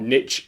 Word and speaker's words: niche: Now, if you've never heard the word niche before, or niche as it's pronounced in some countries, it's basically like your subject.